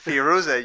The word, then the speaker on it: Firuza: Is that how you pronounce Firuza, you Firuza. stupid fucking chimp. There are no K's. There's an H, but there are no K's. Yeah. it's a hard H.